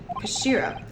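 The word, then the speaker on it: 頭: It's written in head in Japanese, but it's pronounced Kashira, I believe. Kashira.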